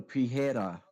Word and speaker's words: Pereira: hidolfo dude I mean don't you know Brazilians pronounce their R's like an h i don't no I don't pijera Pereira no pijera is how it's pronounced Gracie boiler Gracie hoist